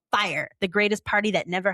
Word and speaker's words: Fyre: And it's pronounced fire.